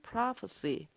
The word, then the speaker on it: prophecy: 2절에서 어려운 발음은 prophecy, 프로 아니고요. 자신 있게 발음하시면 되고요. ph 발음, f 발음하시면 됩니다. 예언, prophecy.